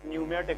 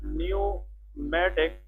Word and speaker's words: pneumatic: ठीक है, तो 6 number that is called pneumatic bones। pneumatic bones, okay। न्यू का जब भी वर्ड आ जाए, न्यू, इसमें जो पी है दैट इज साइलेंट।